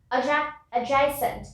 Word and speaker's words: adjacent: After this is adjacent. Sorry, we already finished adjective. I just pronounced it once again. It's adjacent. Adjacent. Adjacent to is similar to adjective.